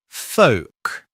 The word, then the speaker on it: folk: The correct pronunciation is folk. Folk. I'm a big fan of folk music. The letter L is often silent when it comes after a vowel sound and is followed by a consonant sound.